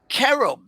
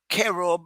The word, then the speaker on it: cherub: Now in the Bible they were talking about cherub, but it's not cherub as KERUB. It's CHERUB R-U-B.